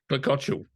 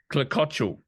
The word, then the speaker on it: Klekociuk: Klekociuk. Oh, say that again. Klekociuk. Klekociuk. So you don't really say the final K? Sometimes but well, it just depends on what mood I'm in. Klekociuk is probably the variation,